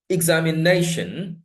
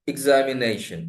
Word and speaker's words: examination: But in this examination, you look at this, it's not examination, it is examination. So the nay, a, that is produced with some emphasis. That means that syllable is louder, longer, and stronger in expression, in the production.